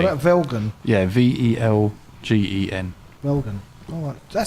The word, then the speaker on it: Velgen: And then Velgen is our the US based wheel company.